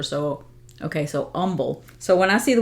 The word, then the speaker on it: Humble: realized she was saying humble um but not pronouncing the H and I realized oh well in Spanish you don't pronounce the h either so okay so humble so when I see